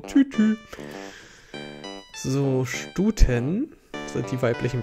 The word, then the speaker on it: Tutu: Ballettröckchen, das ist das Tutu. Nein, ausgesprochen Tütü.